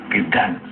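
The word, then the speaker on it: Gdańsk: Gdansk, it's pronounced. in Poland.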